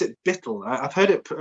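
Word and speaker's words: Buittle: So near, well, I pronounce it Bittle. I've heard it pronounced numerous ways, Bootle, Bittle, however you want to describe it.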